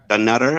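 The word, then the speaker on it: Dunnottar: Dunutter.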